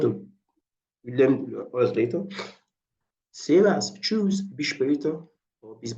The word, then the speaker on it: servus: It's servus. Servus, not just like the street way of pronouncing it, servus.